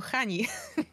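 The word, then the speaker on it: Chani: mylą Ja już mówiłam że się C wymawia jako Hani No jest napisane Hani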